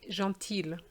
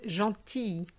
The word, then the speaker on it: gentil: where people would say gentile no is jean t the l is silent but when it's feminine